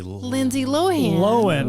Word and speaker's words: Lohan: Lindsay Lohan. Lindsay Lohan. Breaking news alert. We got another name. You've been saying it wrong. Update from the pod. Lindsay Lohan. That's how she pronounces her own name.